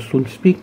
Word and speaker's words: Soundpeats: audio Soundspit, donc S-O-U-N-D-P-E-A-T-S, donc moi je prononce Soundspit, j'espère que ça se prononce comme ça d'ailleurs, donc pardonnez-moi, hein.